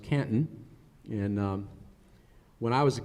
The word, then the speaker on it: Canton: of my hometown, because you don't pronounce it Canton, it's pronounced Canton.